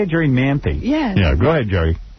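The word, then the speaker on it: Jerri Manthey: Is that how you say it, Jerri Manthe?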